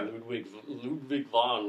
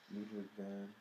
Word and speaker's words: Ludwig van: Ludwig von, or however he pronounces it, Ludwig van.